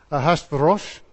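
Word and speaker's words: אחשורוש: Ahashverosh, something like that. Yeah, that's the Hebrew way he meant to say his name, but I'll stick to the anglicised version, Ahasuerus.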